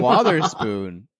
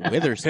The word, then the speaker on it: Wotherspoon: It's definitely Wotherspoon, not Witherspoon.